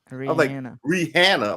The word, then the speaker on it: Rihanna: calls Rihanna Rihanna and she said the pronunciation is Rihanna like Hannah but with a re in front of it yeah you should make